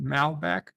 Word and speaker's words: Malbec: Malbec World Day, is that how you pronounce it? Malbec.